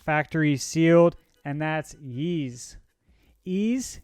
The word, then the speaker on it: Ys: Ease, Yeez, Wise. I don't know. I think it's pronounced Ease, but this is the Monstrum Nox Deluxe Edition.